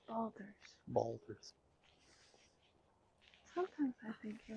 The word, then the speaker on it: Baldur's: It's Baldur's. Baldur's. Sometimes I think you mispronounce things purposefully.